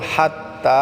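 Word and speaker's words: حتى: পড়বো মুন হিয়া হাত্তা হাত্তা বলতে আমাদেরকে হাটাকে গলায় চাপ দিয়ে উচ্চারণ করে তা এক আলিফ টানে পড়বো হাত্তা সালামুন তো প্রিয়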